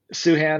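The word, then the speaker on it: Sochan: Suhan, according to Fran Fraschilla, that's the correct way to pronounce it.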